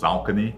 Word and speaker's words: Saucony: Yeah, we say Saucony in the South. It's actually pronounced Saucony. Saucony. Okay. That's the correct way to say it.